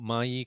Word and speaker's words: maaii: to solve so actually the word may is coming from the Chinese word and which pronounce mayi in mentoring and the reason is